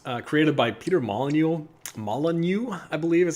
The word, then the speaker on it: Molyneux: uh that was uh created by peter molyneux molyneux i believe is how you pronounce his name kind of a divisive figure